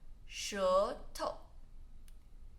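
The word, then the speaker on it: 舌头: Tongue, 舌头, 舌头.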